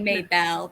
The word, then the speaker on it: Mabel: our heroine mabel um is it mae bell or mabel how should i pronounce i say it may belle but i mean you do you it's dating okay maybelle uh the spelling would suggest maybelle i would say um and